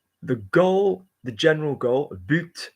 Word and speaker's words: but: The goal, the general goal, but, notice but is pronounced with a T, general, to improve progressively the struggle against waste and to favor sustainable economy.